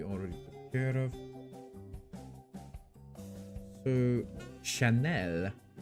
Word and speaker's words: Chanel: took care of so Chanel you need to pronounce it French otherwise it doesn't make any sense Chanel uh it's what One